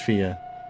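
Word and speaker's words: Fiadh: Fear is a popularish name for girls pronounced fear means wild or untamed.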